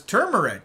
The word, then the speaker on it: turmeric: Hey, you know, uh, it has the R, so it's turmeric. Yeah. Okay. It's spelled with the R, but English language is crazy.